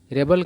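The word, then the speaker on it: rebel: है तो ब होगा तो रेबल का अर्थ होता है विद्रोही ठीक है ना बागी और इसी वर्ड का यूज अगर वर्ब के रूप में करेंगे तो इसका उच्चारण अलग हो जाएगा तब क्या हो जाएगा रिबेल है ना और रिवेल का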